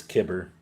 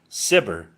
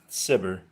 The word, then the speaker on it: Cibber: Cibber, I'm going to look this up because I think it's Kibber. What's his name? Collie Kibber? Collie Cibber.